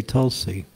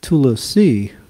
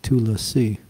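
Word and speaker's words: तुलसी: So for Tulsi, it's the easy way is just say Tulsi, T-U-L-S-I, but it's Tulasi, that's how you say it, when you spell it the long way, Tulasi.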